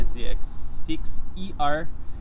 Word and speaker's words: ZX6er: Ang pangalan ng channel ko is Ninja ZX6ER. So, pronounce niya is ZX6er. ZX6er.